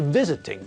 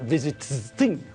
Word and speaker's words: visiting: So when we add ing to visit, it changes to visiting, not visiting.